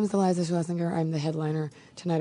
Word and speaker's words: Schlesinger: Is it Schlesinger or Schlesinger? Schlesinger. Okay, I've actually been saying it wrong.